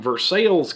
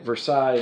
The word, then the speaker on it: Versailles: a funeral director from versailles kentucky that's spelled like versailles france but you don't say it versailles in versailles they will correct you then he was a